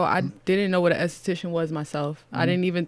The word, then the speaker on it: esthetician: talked about this before how do you say it again a cetacean esthetician so your licensed esthetician yeah